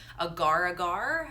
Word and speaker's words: agar-agar: You can change it out for agar-agar, I think that's how you say it, A-G-A-R powder, instead of gelatin.